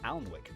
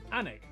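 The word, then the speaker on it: Alnwick: stop in quernmore quma before finishing up in alwick anik which is near Newcastle or as the people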